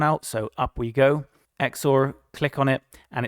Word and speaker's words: XOR: And this one, XOR, which I used to pronounce XOR, that's actually how you say it apparently, XOR. I'm going to test this one out, so up we go. XOR, click on it, and it's basically just subtracted that middle portion there.